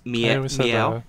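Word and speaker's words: Myau: then you have um i believe it's pronounced it's m-y-a-u but it's meow meow yeah which fits it's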